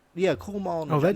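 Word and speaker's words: Kumail: Kumaj? Oh yeah, Kumal Nanjiani. Yeah, Kumal.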